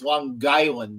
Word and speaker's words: Long Island: It's Long Island. You got to put that G in there.